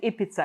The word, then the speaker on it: Ibiza: And I will lead that team to what I call it Ibiza, because I'm Finnish. So this is the way we would pronounce the island, right?